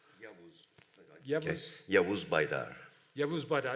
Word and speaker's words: Yavuz Baydar: So you can briefly introduce yourselves to make sure that I don't do the pronunciation wrong. Yavuz. Okay. Yavuz Baydar.